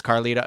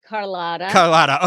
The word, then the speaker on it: Carlotta: and the lightning because carlito is out on the on the lawn there and um did i just say her name wrong carlotta okay i was like